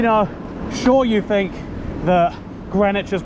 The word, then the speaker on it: Greenwich: spell both woolich and greenwich it's very confusing because the w is for some reason not pronounced an even name and